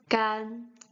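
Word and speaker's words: 干: This a is a bit near to the e. It's not a, but it's gan, gan. First tone is gan, gan, which means dry, with the same pronunciation,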